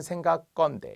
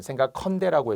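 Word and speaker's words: 생각건대: 축약이 아니라 생각 건대 발음은 생각 건데 이걸 생각 헌데라고 해서는 안 된다는 거죠 자 그런 사례들이 생각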